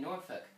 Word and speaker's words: Norfolk: mean to be fair you're not really supposed to pronounce the L anyway noruk yeah it like you